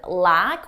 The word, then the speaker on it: lack: Notice with lack, we have a longer sound a more open mouth position and luck. My mouth is closed, because this is more of a schwa sound in my throat.